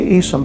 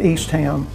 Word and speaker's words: Eastham: plantation, who are the Eastham family. You'll find that a lot of people who work there or in the prison system pronounce that Eastham, which is fine, but the family pronounced it Eastham.